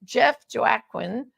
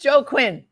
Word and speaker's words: Joaquin: And joining me today to give the man's perspective, the dad's perspective, is Jeff Joaquin.